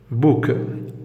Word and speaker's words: bouc: Bouc, un bouc. On a le C, on le prononce.